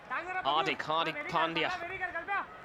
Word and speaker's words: Pandya: are not saying something else they're in song pronouncing the name Hardy correctly Pandya also with Rob and rajadi that's a DJ